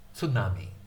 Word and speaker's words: tsunami: In fact, most Americans, instead of saying tsunami, they'll say tsunami. They'll say tsunami. but it's actually tsunami, tsunami, tsunami, tsunami. The Japanese pronunciation is generally pretty flat.